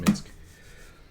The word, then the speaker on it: Minsc: It's pronounced Minsc.